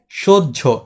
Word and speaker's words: সহ্য: এখানে আমরা জ উচ্চারণ করছি না। কিন্তু জফলার উচ্চারণ হচ্ছে না। তাহলে এখানে আমরা কি উচ্চারণ করছি? কিভাবে আমরা সহ্য করলাম? এই যে তালিবার সৌকার স তারপর কি? বরকার ঝ। এরপর যৌকার ঝ। সহ্য বুঝলা তাহলে সাহায্যের ক্ষেত্রেও